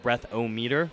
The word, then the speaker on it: Breathometer: It's like spelled like breath-o-meter, but it's pronounced Breathometer, like thermometer.